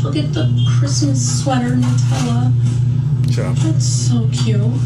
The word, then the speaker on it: Nutella: It's Nutella, not Nutella, by the way. And if you say Nutella, we can't be friends.